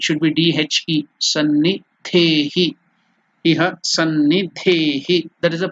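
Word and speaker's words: सन्निधेहि: It is Sanni, S-A-N-N-I, D-H-E-H-I, Sannidehi, D-H-E-H-I. So how to pronounce it? Iha, that is here, Sannidhehi, Sannidhehi.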